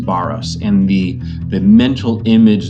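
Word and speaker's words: βάρος: underneath it the greek word there is actually pronounced baros and the the mental image that it's trying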